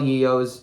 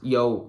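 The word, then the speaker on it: Yeoh: film and you know Michelle yeo's yo sorry Michelle yo I think is how you say it isn't it and I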